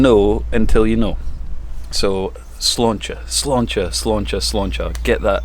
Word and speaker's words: Sláinte: It's just one of these things, the pronunciation thing, isn't it? You don't know until you know. So Sláinte, Sláinte, Sláinte, Sláinte.